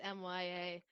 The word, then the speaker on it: Mya: spell it m-e-e-y-a no it's mya it's just my with an a on it it's nothing